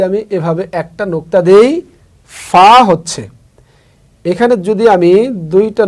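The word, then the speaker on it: ف: তাহলে আমরা মনে রাখবো ফা উচ্চারণ করতে যেমন উপরের দুই দাঁত নিচের ঠোঁটের মাঝখানে লাগছে। ফা তারপরে হচ্ছে কফ।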